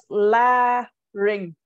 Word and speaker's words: larynx: How do you pronounce it? Lazy. Oh, like, okay. So it's la ring.